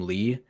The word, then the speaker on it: Lee: Similar like uh the Korean uh family name Lee. In Korean, it's actually just E, but it's romanized with an L for some reason.